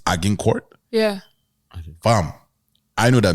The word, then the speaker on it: Agincourt: And so there's this one that it's Agincourt. Yeah. Fam, I know that me Animina. When we pronounce that thing, I would have said aging court. Which is like, I would have said aging because it's aging.